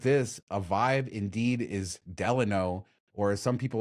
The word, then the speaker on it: Delano: it's going away because people correct me all the time when I say Delano which is the correct way to say it but I uh